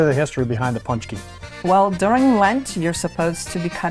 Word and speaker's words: Pączki: So we wanted to know a little more about Pączki. Am I saying it right? You are. Punch and a key.